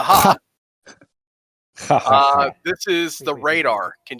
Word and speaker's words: Ja: Ja. All right, I'll go with the Spanish pronunciation. The ha.